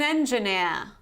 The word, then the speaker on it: engineer: So you see, in the British variety, we have an engineer, near. And in the American variety, an engineer, an engineer. So you actually pronounce this R at the end.